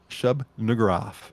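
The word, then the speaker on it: Shub-Niggurath: His name was Shub Nugraf. Oh, Nugraf. That's right on the edge. That's why I wanted to spell it first.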